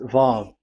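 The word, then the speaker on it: וָו: Vav. So it's V as in Vogue. So it's really V.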